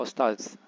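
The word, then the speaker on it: ōstād: Avestad kalau dalam transkripsi bahasa Pazan dia dibaca Ostaz. Jadi ada kemiripan, lebih mirip dengan bahasa Arab ya, Ostaz.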